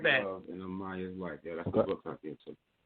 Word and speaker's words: Amayah: So we want to talk more to you, and it's pronounced Amayah, right?